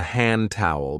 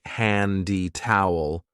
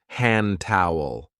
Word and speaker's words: hand towel: This is called a hand towel because we use it to dry our hands. And be careful of the pronunciation. We don't usually say handy towel. We link it and we say hand towel.